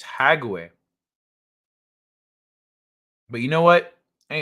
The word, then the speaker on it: Hague: War crimes are tried at the Hage, pronounced Hage. Oh, okay. How is it pronounced Hage? It's Hague.